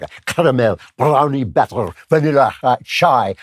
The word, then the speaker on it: chai: Caramel, you got to say it like a caramel, brownie batter, vanilla chai. I should say chai, it's the Hebrew version.